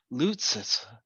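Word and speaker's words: Loutsis: girl that played rose how do you say it sanaya lucis l-o-u-t-s-i-s loot says okay i don't know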